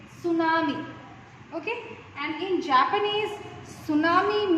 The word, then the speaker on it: tsunami: T silent होता है and we pronounce it tsunami.